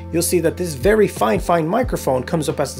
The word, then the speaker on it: FIFINE: see that this very fine fine microphone comes up as the second option and yes i'm saying fine fine on purpose this is how one of their sellers precisely asked me to pronounce it and this is where